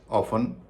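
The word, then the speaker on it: often: ऑफन सोफन listen फासन wrestle bristle castle चेसनट मॉगेेज अब हम जानेंगे कि इन शब्दों में टी साइलेंट क्यों होता है।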